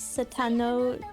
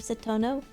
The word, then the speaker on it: Satono: I always read her name as Satano instead of Satono.